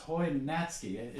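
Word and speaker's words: Hojnacki: h OJ na a Ki but it's it's pronounced Hoy natski I have to keep thinking about that still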